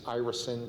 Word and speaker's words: irisin: The way we pronounce it is irisin, the god is Iris.